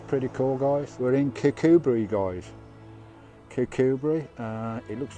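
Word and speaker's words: Kirkcudbright: here which is pretty cool guys we're in kikubri guys cucubri it looks like it says Kirk cud bright but it's pronounced kikubri I've got a camp down the road it's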